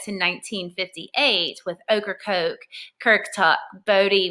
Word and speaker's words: Bodie: 1958 with Ocracoke, Kirktuck, Bodie, which actually is pronounced Body Island, and Cape Hatteras being our largest at 208 feet.